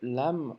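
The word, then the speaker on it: لام: La lettre lam en arabe se prononce comme le L en français qu'on retrouve dans ballon par exemple.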